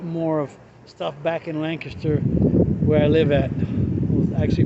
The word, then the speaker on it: Lancaster: been here that long most people say lancaster which is the proper pronunciation being that it was named for lancashire india uh england sorry